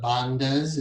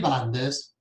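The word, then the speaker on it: bandha: with what are called the bond or the bandas as you hear pronounced in the west it's easier to say banda so we just do with the western tongue there are three bondas and then you have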